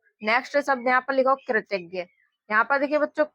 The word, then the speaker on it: कृतज्ञ: Last में ज्ञ में आ का उच्चारण निकलता है तो इसलिए यहाँ पर ए का यूज करते हैं कृतज्ञ।